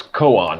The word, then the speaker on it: koan: And then it's koan. Like I think it's a last name of a Jewish person too.